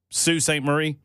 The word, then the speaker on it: Sault Ste. Marie: It's Sault Ste. Marie. Not spelled that way. Spelled salt, but they pronounce it Sioux.